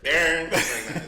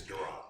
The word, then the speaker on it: Duran: You can't say my name, right? Darren. It's Duran.